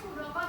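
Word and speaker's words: pseudocode: Ini bacanya sudokot ya.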